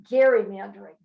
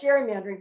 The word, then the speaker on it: gerrymandering: And he called it gerrymandering. Well, over the years, the hard G became a soft G, and we call it gerrymandering.